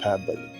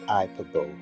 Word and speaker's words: hyperbole: Note, the pronunciation of hyperbole should be hyperbole, not hyperbole, as we often pronounce it sometimes.